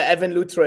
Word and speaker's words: Evan Luthra: And am I pronouncing the name correctly? Yeah, Evan Luthra is good.